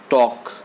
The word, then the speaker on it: talk: What is the spelling of talk? T-A-L-K. What is the spelling of could? C-O-U-L-D. But in all these words, the L is silent.